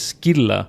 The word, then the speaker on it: Scylla: In 1847, after months of pursuits, I can't pronounce it like the game does. It's Scylla.